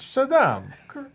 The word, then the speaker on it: Shaddam: You didn't say it right. It's Shaddam.